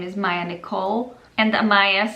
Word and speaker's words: Amaya: martinez it sounds great in slovakia they would be able to pronounce it because we do have a maya basically it's not amaya it's it's similar it's like a little shorter i mean there is a little bit of difference like when i say this slovakian it's amaya yeah they would probably call her amaya uh but in english it's amaya so i prefer the english